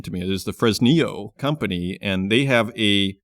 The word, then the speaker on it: Fresnillo: 1550 for his Neo as Bruce explained the pronunciation to me it is the fresnio company and they have a property in that